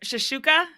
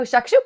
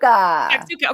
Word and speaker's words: shakshuka: Complete side note, but okay, I'm probably gonna pronounce it wrong. But shashuka, Oh, shakshuka. shakshuka.